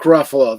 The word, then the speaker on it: Ruffalo: It rhymes with Buffalo or something like that."